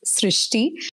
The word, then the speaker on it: Srishti: Srishti, is that how you pronounce your name? Yup. Hello, everyone. My name is pronounced Srishti.